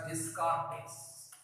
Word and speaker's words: Descartes: We should pronounce this one as Descartes.